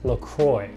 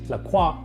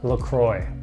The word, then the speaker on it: LaCroix: So in the US, we pronounce this LaCroix. Not like it's properly pronounced in France, LaCroix, but LaCroix.